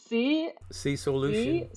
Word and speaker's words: Seasoilution: So it's Seasoilution. Soil. One more time, please. So it's a word play on soil and solution.